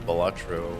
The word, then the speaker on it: Balatro: And then possibly, I mean, that card game Balatro. That's how you pronounce it.